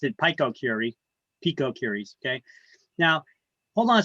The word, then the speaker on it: picocuries: is that justified in this case a hundred picocuries per liter of air in her kitchen wow